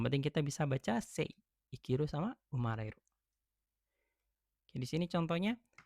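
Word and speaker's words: 生きる: Berarti ini dibacanya I. Ikiru hidup artinya gitu.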